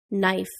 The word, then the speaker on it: knife: silent W writing wrong the silent k knife new don't forget to